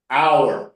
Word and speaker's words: hour: talk about minutes and Hour. Hear that sound? 2 hours, right? Hours. 1 hour, 2 hours. That's how you should say this word. Hour. Hour. Hours. Not Hours. R. Not R. Hour.